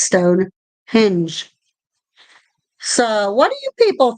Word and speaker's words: Stonehenge: henge I know people pronounce that wrong it's not Stone Hedge it's Stone hinge so what do you